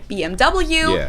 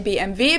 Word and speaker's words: BMW: english and in german in english people say bmw in german we say bmv because oh b in